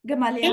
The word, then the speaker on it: Gamaliel: This is exactly what happened in the Paul and Stephen book too, and I can't pronounce the man's name. How did you say it? Started with a G? Gamaliel? Gamaliel.